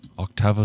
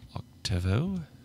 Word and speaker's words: octavo: an octavo an octavo octavo size my pronunciation is very American so octavo hello Emma octavo octavo the a is what's important there all right an octo